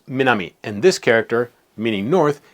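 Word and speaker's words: 南: For example, you can learn that this character, meaning south, is pronounced minami, and this character, meaning north, is pronounced kita.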